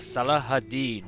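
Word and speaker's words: Salah ad-Din: the arabic campaign with salah hadid which is how i was told to pronounce it in the movie kingdom of heaven so without a further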